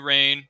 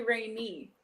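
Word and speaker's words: Rayne: No, it's actually Rainy. Like Rainy. Sorry. Yes. Rainy. Trust me, with my last name being Payne spelled the same way, just replace the R.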